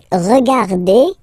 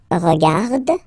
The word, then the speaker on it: regarde: So phonetically, only one form here.